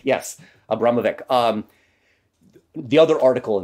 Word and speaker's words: Abramovic: to Marina AB can't I say her name Abramovic yes Abramovic um the another article in the times uh